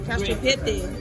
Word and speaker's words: cacio e pepe: How you pronounce this? Cacio e pepe? Yeah, cacio e pepe.